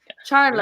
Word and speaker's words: Charlo: Charlo. Am I pronouncing that right? Yeah.